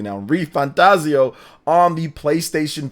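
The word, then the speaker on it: ReFantazio: of metaphor reantaso I'm saying it correctly now reantaso on the PlayStation 5 so you definitely want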